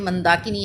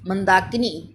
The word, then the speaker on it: मंदाकिनी: ऐसी ही मात्रा लगाएंगे जैसे यह मंदाकिनी है मंदाकिनीं फंदा की टीम ने की जल्दी बोला है और नीम धीरे-धीरे बोला है इसलिए इसको सही उच्चारण